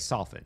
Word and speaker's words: soften: Like soften, you never pronounce the T in that word either.